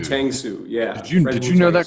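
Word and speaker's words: Uytengsu: You can tell us how to pronounce Fred's last name. Tangsu. Tangsu.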